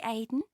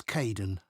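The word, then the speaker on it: Kaeden: 6 hello Charlotte I'm Kaden one of the supervisors welcome to the team hi Aiden uh it's Kaden I'm so sorry oh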